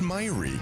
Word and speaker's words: Myri: It's pronounced Myri. It's very Norwegian.